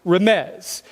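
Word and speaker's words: רמז: is the English spelling of a Hebrew word pronounced Ramez and a Ramez is basically all it means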